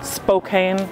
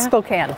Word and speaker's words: Spokane: 5th in 1969 in Spokane Washington am I saying it right spoken Spokane Spokane Washington yeah um actually a location